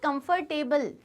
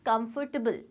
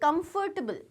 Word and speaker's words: comfortable: इसका प्रोनाउंसिएशन हम सीखेंगे जब हम commonly mispronounced words देखेंगे. It is not comfortable, it's comfortable. Table. T-B-L. Say it comfortable.